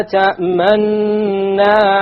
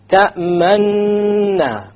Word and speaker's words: تأمنا: You show your lips moving to be a dhamma, but you make no pronunciation.